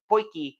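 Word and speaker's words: potjie: thing looks like it's it's spelled pgy but they in South Africa they call it poy and so that's why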